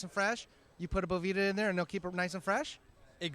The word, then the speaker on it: Boveda: Am I saying it wrong? Is it Boveda? It is Boveda, but hey, everyone says Boveda, or it's a bunch of different things. So, okay, do it the Duff way. It's Boveda, dude, or Boveda.